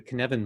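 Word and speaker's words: Cynefin: of welsh i know you say the word kevin and you say no in the middle so it's that's how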